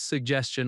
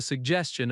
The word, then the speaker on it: suggestion: Stress suggestion on the second syllable. I have a suggestion about the timeline.